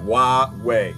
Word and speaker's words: Huawei: Huawei, that makes sense.